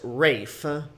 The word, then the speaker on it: Ralph: uh it's it's his his first name is spelled ralph huh but it's pronounced rafe and then finds is